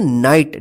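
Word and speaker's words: knight: पर जो है ना के और जी एच यहां पर साइलेंट रहेगा इसको पढ़ेंगे नाइट नाइट का मतलब शूरवीर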